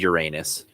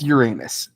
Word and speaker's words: Uranus: if Venus has any moons Mercury Venus and Uranus Final Answer Uranus I guess technically um is how it's pronounced yes final answer I almost was